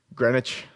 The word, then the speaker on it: Greenwich: yes let's see sorry there's a w in there yes greenwich that's how that's pronounced yes it is the